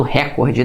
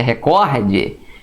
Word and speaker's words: recorde: ela é a penúltima como por exemplo recorde né que o pessoal fala muito recorde não é o certo é recorde rubrica quadro caneta Leonardo